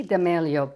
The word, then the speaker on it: D'Amelio: I say D'Amelio, but how do you say it?